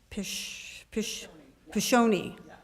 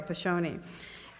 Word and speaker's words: Piscione: Piscione. Okay, Piscione.